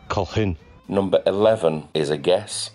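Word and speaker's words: Colquhoun: must be keys then a friend of mine had this surname at school and uh i've heard several variations including kolkatun called quan but it's kohun number 11 is a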